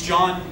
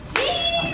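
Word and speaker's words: Jean: My name is John, not Gene. I know it's spelled like J-E-A-N, like Gene. But it's John, I promise it's John. It's... I know what he's saying. Gene! No. You're saying it wrong. It's John, not...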